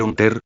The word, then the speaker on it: Hunter: Se pronuncia un ter. Ununter, no un ter x unter.